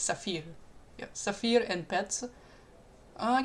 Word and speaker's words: Saphir: Well, I think it's pronounced like the French word, so it's Saphir.